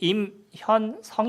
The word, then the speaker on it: 임현성: 예 쓰 제 이름이 임 현 성 입니다 제가 제 이름을 얘기할 때도 이렇게 띄워서 말씀을 드려요 왜냐하면 같이 미 3개가 다 붙어있어요 이름이 뒤에 받침이 세 개가 있으면 요 발음이 안 돼요 그렇기 때문에 이름을 있을